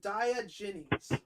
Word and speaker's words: Diogenes: Pronounce it Diogenes.